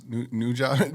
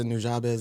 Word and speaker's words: Nujabes: It'd be on like Nujabes radio or something on that, and He had a radio, and that's how you pronounce Nujabes.